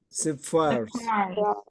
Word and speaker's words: sapphires: Sapphires. Там П не читается, Ф, сразу П.